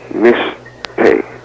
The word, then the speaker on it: mishteh: It's pronounced mishteh. Spelled in Hebrew, mem, sheen, tav, hey.